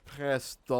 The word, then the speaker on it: pestle: Pestle. I say pestle. It's got a T in there, but apparently the T is silent.